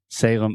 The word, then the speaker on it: Salem: And remember, whenever you have a word that ends with the letter M in English, we're going to close our mouth completely.